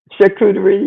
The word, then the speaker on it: charcuterie: that where is that is that how you say it chicory charcuterie yes yeah yeah every once in